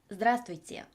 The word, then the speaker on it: здравствуйте: 즈드라스트 브이제 중간 알파벳 V가 발음에서 생략이 된다라고 생각을 하시면 됩니다.